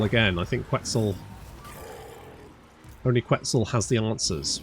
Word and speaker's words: Quetzal: Only Quetzal has the answers, right? Quetzal rhymes with pretzel.